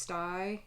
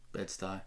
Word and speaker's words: Bedstü: Usually, when you see the brand name in print, it's got 2 little dots over each part of the U, and so I think it's pronounced sty, right? Bedstü.